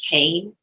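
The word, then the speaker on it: Kean: amazing work is leslie kane and that's k-e-a-n it's not spelled like it's pronounced uh or it doesn't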